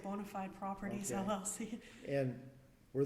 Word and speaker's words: Bonafide: Or is it Bonafide, or Bonafide, how do you pronounce it? I say Bonafide Properties, Okay.